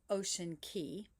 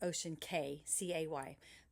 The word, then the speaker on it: Ocean Cay: And I'm combining two days because we have two days at Ocean Key or you may pronounce it ocean k a y but the real pronunciation of c a y is key.